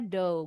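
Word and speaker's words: dough: Ingat aja mainan anak-anak dulu kalian kecil. Play do kayak adonan tuh bacanya do. Gh-nya silent.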